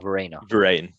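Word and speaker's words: Verreynne: How do you pronounce his surname? Is it Varane or Verena? Varane.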